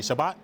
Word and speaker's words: Shabbat: So the cholent is a Jewish dish, and to give a little background behind the cholent, Shabbat. Is that how you say it, Shabbat? Yeah. Shabbat.